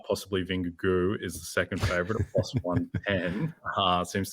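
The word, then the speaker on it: Vingegaard: race anyone you like there I've settled on vinegar go as the pronunciation like it's like the geau like go Tigers LSU um bingugu um he's a bet Premiere Plus 110.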